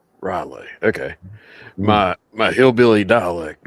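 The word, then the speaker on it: R'lyeh: Riley. Okay. My my hillbilly dialect would not let me pronounce that right.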